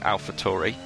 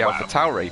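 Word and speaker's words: AlphaTauri: much is reliable i i got criticized leox for pronouncing it alpha tori uh because i was told that that was the british way of pronouncing it and it should be alpha towery but you're the you're the italian here and you're saying tori uh i'm following your lead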